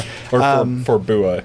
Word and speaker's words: Forboa: You did say it wrong, but but no, I I thought I was like, nah, I'm not going to take it that far. For Bua is what I meant. It's for Boa.